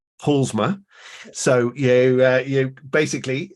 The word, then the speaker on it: Paulusma: a Polly and I've just checked how to pronounce her surname and it's PMA so you uh you basically uh leave out